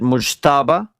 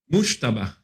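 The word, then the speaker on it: Mojtaba: I like how you pronounce it. Mushtaba. Mushtaba. Mushtaba. Mushtaba. That's how they told me it's pronounced. I try. No, of course I try to pronounce it, but it's never going to come out the same.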